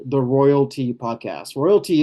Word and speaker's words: ROYLT: Royalty is spelled RO Y LT and essentially it's an acronym for rest of your lifetime.